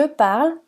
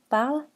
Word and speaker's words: parle: aigu enfin dans je parle ou je travaille vous remarquez que je ne prononce pas le E final des verbes parle et travaillent quand eux est la dernière lettre il est muet écoutez je m'appelle une